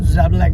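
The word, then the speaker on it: Žabljak: তো আজকে আমরা যে জায়গাটায় এসেছি ওটার নাম আমি জানি না আমি ঠিক প্রোনাউন্স করছি কি না, তো জাবলাক বলে জায়গাটার নাম।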